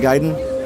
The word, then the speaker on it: Gaiden: Ninja Gaiden. Anybody know the Ninja game was Ninja Gaiden and not Ninja Gaiden? We always pronounced it Gaiden as kids.